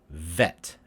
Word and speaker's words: vet: entirely actually is that i put extra stress on my v sounds to make sure you can hear the move the vibration of the v so the uh so bet vet bet vet so i make my v's a little bit longer so you can hear the sound if you make it